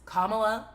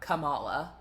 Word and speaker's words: Kamala: For the record, it is Kamala, not Kamala, not koala. It doesn't rhyme with koala.